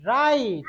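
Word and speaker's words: right: যদি কোনো ওয়ার্ডে আই, জি, এইচ এই তিনটা একসাথে থাকে, তাহলে এই তিনটা মিলে উচ্চারণ হবে আই।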